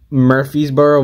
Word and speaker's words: Murfreesboro: Murfreesboro Mud Monster.